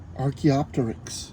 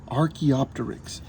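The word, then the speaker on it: Archaeopteryx: and colored feathers let's say its name again Arch opter Arch opter that one was probably the most difficult for me to learn Arch opter stegosaurus stegosaurus was as long as a bus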